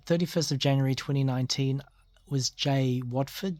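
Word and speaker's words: Jai Waeford: Okay, 31st of January 2019 was Jay Watford. Jay is spelled J-A-I. Watford is W-A-E-F-O-R-D.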